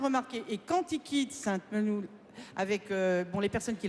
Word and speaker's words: Sainte-Menehould: varennes et donc j'ai bien tenu et on prononce sainte-menehould sainte-menehould bon voilà parce que ça énerve ceux qui